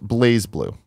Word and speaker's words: BlazBlue: in he loves them poles to the it's pronounced blazblue says TG Bert if I should hum jams